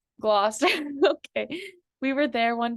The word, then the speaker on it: Gloucester: It's Gloucester. Gloucester.